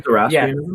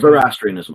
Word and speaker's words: Zoroastrianism: You mean Zoroastrianism? Yes, I am terrible at pronunciation. Zoroastrianism.